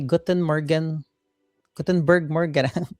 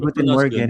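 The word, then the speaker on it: Guten Morgen: Sabi ni Carlos in Germany, Gutenberg Morgan. Tama ba yung Gutenberg pronunciation? Morgan. Guten Paano niyo pa rin Morgan. Guten Morgan.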